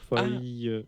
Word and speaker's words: Foy: Mais ça s'écrit Foïs comme. Non, mais elle, c'est un Y, Claire Foy.